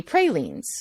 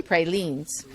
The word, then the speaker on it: pralines: so which would be pralines well they're wrong a says e so pralines so that's so you're